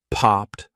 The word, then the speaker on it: popped: If it ends in an unvoiced consonant sound, you're going to say for Ed, this takes practice.